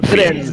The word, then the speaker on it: Firenze: Yeah, Florence, then Firenze. Firenze, like the Italian version.